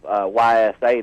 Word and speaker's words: Ys: Yeah, it's a role-playing game, or it's pronounced E.